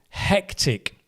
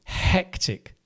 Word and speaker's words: hectic: So, hectic. Can you say that with me? Hectic. The hectic. The stress is on the first uh thingamajig thingamajig syllable.